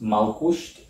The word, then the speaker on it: Malkusht: That's how his name is pronounced, Malkusht. It sounds a lot like Malkut, as in Malkut, the element earth.